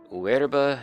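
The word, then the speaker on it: Oerba: Uerba Yun Fang, or Fang, I guess. And yes, the O there, OE, is pronounced more of a W.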